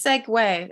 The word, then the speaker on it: Segway: do it is it no no it's seg way it's how everyone pronounced it whenever I read the